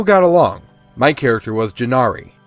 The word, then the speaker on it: Jinaere: along my character was jinari pronounced jin nari she wanted to become